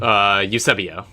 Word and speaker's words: Eusebio: Eusebio.